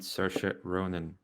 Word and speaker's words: Saoirse Ronan: The incredibly talented Saoirse Ronan. Okay. And they both get that point pronouncing her name correctly as well. It is indeed Saoirse Ronan.